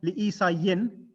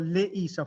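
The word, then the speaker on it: لِعِيسَى: No, it's not read li Isa yin. It's for li Isa, for Isa. It's the last inflection is silent.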